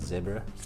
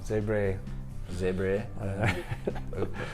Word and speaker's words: Zebre: So we start with, I think you pronounce it Zebra. Yeah. Zebre.